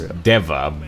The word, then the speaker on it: Deva: God's kitchen dancer is Dave? I suppose, at this point, yeah. I mean, his actual name is Deva, but yeah, Dave. Dave works. Yeah. Because I'm pretty sure in universe it's pronounced Deva anyway.